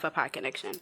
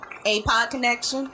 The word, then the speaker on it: ApodConnection: And like I said, I'm the founder of Apodconnection, as well as a bunch of other things.